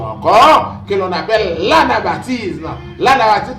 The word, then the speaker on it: anabaptisme: que l'on appelle l'anabaptisme l'anabtis comme ça se prononce a n A B a P t i s m e et bien son doctrine